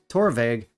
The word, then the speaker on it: Torabhaig: So it comes in at number 6, Torabhaig, correct pronunciation.